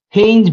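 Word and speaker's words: Heinz: First, Hinge bodies. Hinge body. Hinge. Hinge. Hinge. Pronounced like hinge.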